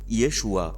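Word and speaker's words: ישוע: তবে সরলভাবে বলতে গেলে যীশুর মাতৃভাষায় তার নাম ছিল ইয়েশুয়া।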